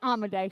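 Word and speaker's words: Dario Amodei: to anyone okay Dario amade say his name with me amade amade a lot of people say it wrong Dario amade was one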